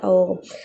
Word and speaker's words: ahogo: Entonces, la H entre las vocales se considera inexistente, ojo. Entonces, a pesar de que esté ahí la letra H, la grafía, nosotros estudiamos el sonido en esta clase.